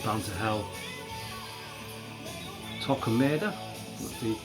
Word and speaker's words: Torquemada: Great songs like Bound to Hell, Torquemada, that's the correct pronunciation of that song.